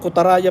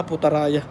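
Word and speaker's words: Putrajaya: Oh, mali yung bigkas ko. Kutaraya pala, Putaraya.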